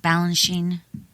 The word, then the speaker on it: Balanchine: you talk a lot in the book about Balanchine is that how do you say it Balanchine yes George B George Bine and his you